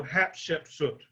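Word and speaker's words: Hatshepsut: easy to pronounce hatchima notice the first three letters is hat chef soot so hap chef soot is her name now the reason why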